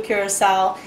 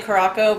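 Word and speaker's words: Curaçao: And then last but not least, the blue curacao. And real quick on the pronunciation of this, because some people say Caraco, but I want to let y'all know it's actually curacao.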